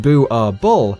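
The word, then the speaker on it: Boerboel: prey these dogs are illegal in Norway bubale pronounced boo are bull is a Dutch Afrikaans word for farmers dog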